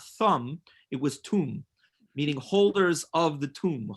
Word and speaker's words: Thum: She says, Rabbi, in Hebrew, my last name Thum is not pronounced Thumb. It's pronounced Tum, like Toom, because my father is